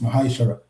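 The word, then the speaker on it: מעשר: You can find this in the book of numbers 18 and 21 and Malachi 3:8-10 means tent in the Hebrew and is pronounced mahashara 10% of every penny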